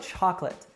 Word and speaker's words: chocolate: so it's Russ respect now how about chocolate actually a couple interesting things happen here now the stress is on the first syllable chalk and the last syllable is unstressed now what about the second syllable we actually drop the second syllable and this happens in